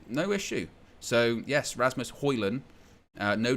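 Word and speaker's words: Højlund: fat four says oh and it's pronounced hoyland yes indeed that's how it's pronounced if you haven't already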